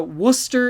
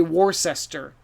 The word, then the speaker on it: Worcester: lycester no lester so worcester and lester the two words look crazy but they actually rhyme okay and uh so you could say tim lives in leicester so this is another time where you should ask people or uh trust what you hear someone tells you that's worcester later don't say warcester okay um so trust